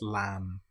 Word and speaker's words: lamb: Here we don't pronounce the B, we don't say lamb, it's just lamb or comb. The B is totally silent.